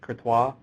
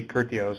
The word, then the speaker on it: Courtois: It's Christine, I think it's Courtois. Could be Curtios, I don't know. I have very little French in my background.